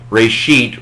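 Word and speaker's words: רֵאשִׁית: Reshith. Reshith. Second entry. Reshith. Reshith. Now he is, that is, I think, Bill Mounts. I would say Reshit, but that's not important for this video. There are different pronunciations.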